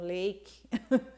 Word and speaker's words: lake: E tem uma regra de gramática aí, de como, uma regrinha, né, que por que esse A tem que ser pronunciado ei, porque no fim tem a letra E, então lake.